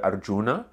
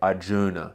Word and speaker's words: Arjuna: If I say it like an Arab, I want to go Arjuna. If I say it like an Aussie, I want to say Arjuna.